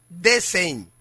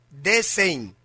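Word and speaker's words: decem: o décimo repito esto diciembre en latín se pronuncia desin desin que significa 10 o décimo en el calendario Romano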